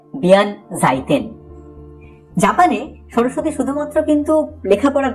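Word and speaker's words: 弁財天: আবার জাপানে এই উচ্চারণটা একটু বদলে হয় বিয়ান জাইতেন।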